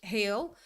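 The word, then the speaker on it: hel: And it said it's spelled h e l. And afterwards thought, yeah, that's probably because related to the smell, but it actually means whole in Swedish, heel.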